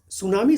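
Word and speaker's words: tsunami: सू मतलब T silent होता है, आपको ये पता होना चाहिए, टी साइलेंट होता है, यानी हिंदी में बात करेंगे तो तसू होता है, बाकी वैसे हम लोग बोलने के लिए सुनामी बोलते हैं SU, यानी टी साइलेंट करके, जिसका अर्थ होता है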